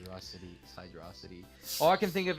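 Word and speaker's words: Hydrocity: It's after Hydro City. Hydrosity. So say it right. Hydrosity.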